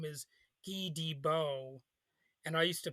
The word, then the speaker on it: Guy Debord: His name is Guy Debord, and I used to pronounce it like Guy Debord, but the real French pronunciation is Guy Debord.